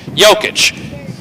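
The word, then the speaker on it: Jokić: I think your nephew is mildly disappointed that you didn't know how to pronounce that player's name. Is it Jokic? Yeah. Okay, Jokic.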